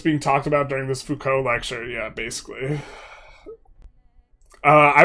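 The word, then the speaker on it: Foucault: Um and this like I just remember like uh uh I was like, "Oh, it's actually pronounced Fuko." Cuz he was telling me about focal.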